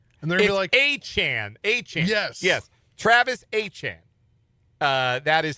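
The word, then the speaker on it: Achane: Travis Achan. Uh, that is how it is pronounced.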